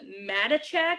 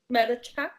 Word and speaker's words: Matichak: Andy Matichak. It's Maticchak. Yeah, Matichak sounds like. Matichak.